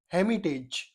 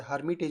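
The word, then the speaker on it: hermit: यानी एक कुटिया या आश्रम में दिस हेमिटेज वाज इनहबिटेड बाय थ्री हमिट्स जब इसमें इ आर साइलेंट होता है इसको हमिट बोलते हैं।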